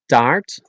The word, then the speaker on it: taart: Then there's the double A, which is long, so a little like ah or ra or ja, but with open mouth further and pronounce it like the Spanish a.